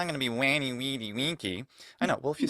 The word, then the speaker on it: veni, vidi, vici: Often they've heard it first in that ecclesiastical pronunciation, veni, vidi, vici. It sounds absolutely cool, just like everything in ecclesiastical pronunciation. And then they go, it's not going to be wanny, weedy, winky.